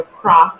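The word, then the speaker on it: Krach: In room 336, so Croc is spelled K-R-A-C-H, if students are looking for us.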